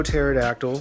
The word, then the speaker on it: pterodactyl: It is a pseudo pterodactyl, both words that have a silent P, going silently P.